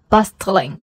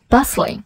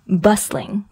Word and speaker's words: bustling: 对，所以不要读成了 bustling，而应该是 bustling bustling， yeah。